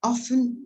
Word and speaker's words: often: So here we have that often goes after verb to be here, right? Be careful with the pronunciation of that word. Also, you should pronounce often. T is not pronounced.